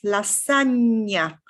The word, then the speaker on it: lasagna: so on right so this is the same sound yeah is spelled with a gn so if you have this is lasagna and then signora another little thing to